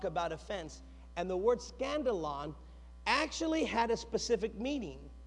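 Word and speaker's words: skandalon: Now immediately, we kind of recognize that word scandalon sounds like the word scandal.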